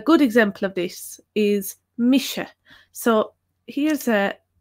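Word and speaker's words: mise: pronounced similar to hell SH is pronounced in English like in the word shampoo so a good example of this is Misha so here's a Misha that's how it's pronounced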